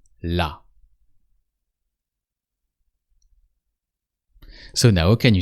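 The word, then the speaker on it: là: It sounds exactly as the feminine the but it means there la.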